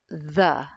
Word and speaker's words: the: speech that word is the remember that the is a voiced fricative the placement is interdental or tongue between the teeth and the airflow travels